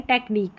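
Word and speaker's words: technique: सी एच को यहां पर क कर करके प्रोनाउंस कर रहे हैं टेक्निक में।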